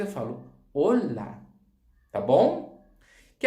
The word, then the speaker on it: hola: Em português, a gente fala olá. Em espanhol, não é olá, é olá. A sílaba mais forte está no O.